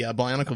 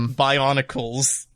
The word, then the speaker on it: Bionicle: But the entire time she's pronouncing it Bionicles. Yep. And like, she'll even say Bionicles Heroes. What a mouthful! How would you possibly? Why would you say it like that? It doesn't even sound Extra good. S is just too extra.